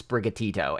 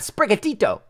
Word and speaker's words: Sprigatito: that probably can't pronounce sprigatito and I just had trouble saying it with my mouth right now so yeah I don't know but it's just it's just sprig plus gatito a actual Spanish word bad yeah I